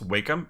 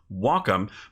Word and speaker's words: Wacom: it's pronounced long ago I thought it was pronounced Wakeham and I was educated it's pronounced welcome and that's totally cool when I hear it's pronounced Wacom I'm like no no no no it's like